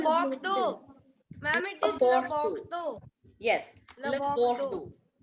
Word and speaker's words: Bordeaux: Ma'am, it is Le Bordeaux.